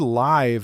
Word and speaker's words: live: The word live is fascinating. It has two different pronunciations that mean completely different things. When it rhymes with five, it means happening right now, in real time. We are live on air.